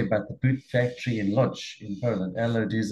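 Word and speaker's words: Łódź: there's a story about the Boot factory in Lodge in Poland Eller it is a lodge that's how you just spin it pronounce it um a man remodeled his was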